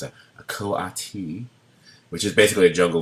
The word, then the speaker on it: coati: this animal which is a make sure I pronounce it correctly it's a coati which is basically a jungle version of a